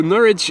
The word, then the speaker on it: Norwich: will and yes tomorrow Norwich is indeed with a silent w ow there's a really